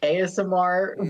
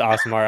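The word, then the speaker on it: Aasimar: Like I've heard ASMR, which I know is wrong. ASMR. No, it's pronounced Asimar.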